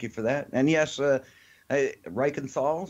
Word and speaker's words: Reichenthal: And yes, Reichenthal, so you're right on the money. Actually, the true German pronunciation, which you hit on, Yeah. I kind of Americanized it, I guess, for lack of a better term.